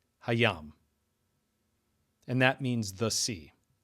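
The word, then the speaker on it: הַיָּם: And we see that the noun yam is prefixed by he and the vowel sign. And that there is a desh in the first consonant of the word yam. That is to say the yud hayam.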